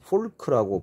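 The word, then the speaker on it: folk: 뭐 fork라고 발음하지 않습니다. L이 무음이에요. 뮤트예요. fork죠.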